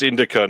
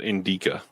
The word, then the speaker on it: Indica: put the wrong in it's Indica not Inda I put the wrong I put the emphasis on the wrong look at this Sasha helping you with your your an s uh pneumonic Indica is the one to